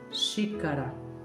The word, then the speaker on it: xícara: E quando eu tomo café, eu tomo na xícara. Xícara. ok? É forte, é a primeira sílaba forte por conta do acento.